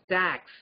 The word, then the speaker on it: TACS: collisions and spectroscopy so it is abbreviated as tacs for theory of atomic collisions and spectroscopy but it rhymes as tax and students normally say